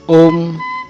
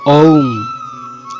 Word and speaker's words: ওম: কেউ বলেন ওম, কেউ বলেন ঔম। শ্রী শ্রী বাবামণি বললেন, মৌখিক উচ্চারণ ওম এবং ঔম এই দুটির মাঝামাঝি, কিন্তু প্রণব উচ্চস্বরে উচ্চারণের মন্ত্র নয়, মনে মনে একে জপতে হয়।